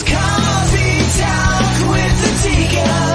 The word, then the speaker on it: ADIKA: It's coffee talk with ADIKA. Nothing rhymes with that but chicken tikka.